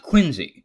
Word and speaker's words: Quincy: John Quincy Adams. It's pronounced Quincy.